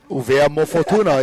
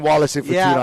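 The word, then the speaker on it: ʻUvea mo Futuna: Uvea Mo'ofatuna is a proper way to say it. I'm no longer saying Wallace and Fortuna. I'm saying Uvea Mo'ofatuna.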